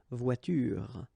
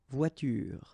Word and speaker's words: voiture: The last thing that you will hear is this r, voiture, voiture. So it's not here, okay? So clearly you don't pronounce it here.